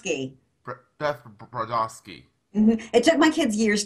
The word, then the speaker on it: Brodovsky: that Beth product I can see it that's pronounced key debogorski I took my kids years to be able